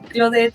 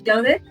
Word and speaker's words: Claudette: También en el trabajo eh me empezaron a decir Clo porque mi nombre es francés, entonces eh se pronuncia correctamente Clodet, pero aquí en México pues lo pronunciamos Claudet.